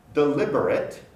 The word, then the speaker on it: deliberate: Deliberate, deliberate, deliberate becomes deliberate. The B joins the syllable before, becomes lib, delib, and then the R becomes rit, deliberate. Interest, originally interest, interest, 3